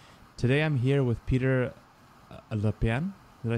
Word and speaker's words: LePiane: does it tell you les piana but we'll go with le piani le piani is about as anglicized as it can get okay so peter um